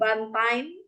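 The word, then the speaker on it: Bantaeng: place I would say bantang in South salesi yeah okay is it do I pronounce correctly bantang yeah very perfectly okay yeah it's 4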